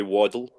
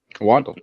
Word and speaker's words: Waddell: Waddell. Or how do you say last name? That would be Waddle. Waddle.